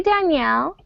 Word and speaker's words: Daniel: This is the boy's variation, and it's pronounced Daniel.